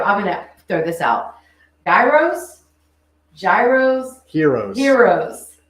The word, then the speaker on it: gyros: gonna throw this out Gyros Gyros Heroes Heroes what is correct Heroes so the g is silent or the GK yeah